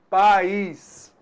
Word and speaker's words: país: Muito diferente da palavra país. Pronuncie então pais. País. Você notou aí? Duas vezes dando esse toque aqui. Concorda comigo? Beleza. Então na palavra país, opa, pais, apenas uma vogal. Então apenas uma sílaba. País, eu tenho duas vogais, o A e o I. Opa, então nesse caso aí, você notou que a gente tem duas sílabas, cada vogal com a sua sílaba.